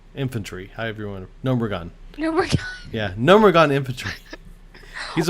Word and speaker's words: Gnomeregan: Gnomeregan. Gnomeregan. Yeah, Gnomeregan infantry. He's a 1/4 charge He always taunt. calls it Gnomeregan.